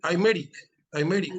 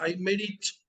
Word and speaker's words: Aymeric: Riesta, ¿es Aymeric o Aymerich? Bueno, Aymeric, aunque en determinadas partes de España se pronuncia Aymerich, pero originariamente es Aymeric.